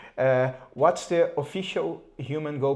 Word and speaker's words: HumanGO: So the how how do you guys pronounce it? Well, if we could think about two separate words and really our driving force which is that we make humans go. It is human go.